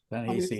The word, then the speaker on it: Ta-Nehisi: and Me by, and help me out, gentlemen, Ta-Nehisi Coates. Is that how you say it? Ta-Nehisi, yeah.